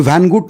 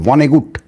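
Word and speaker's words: Vonnegut: জায়গা শুধু ভান কুড ভ্যানগুট নয় আমি যদি উচ্চারণটা ভুল করি আমায় কেউ সংশোধন করে দেবেন আমি আমার মত করে করছি ভনেগুট কুড ভনেগুট আমি ভানগুড বলে ফেলেছি কুড ভনেগুট নয় সুকুমার রায় ফ্যাসিজমকে ভয়ঙ্করভাবে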